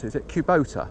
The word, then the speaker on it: Kubota: If I've pronounced it, is it Kubota? It's pronounced Kubota.